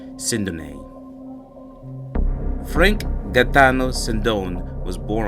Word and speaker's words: Sindone: We understand that based on his surname, it is pronounced Sindone. However, in the news media outlets and from other associates, many people label his last name as Sindone. So we would go by the traditional media pronunciation, Sindone, but we do acknowledge that his name is correctly pronounced as Sindone.